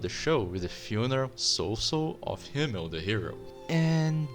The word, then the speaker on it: Sousou: We have this word right here that is pronounced Sousou.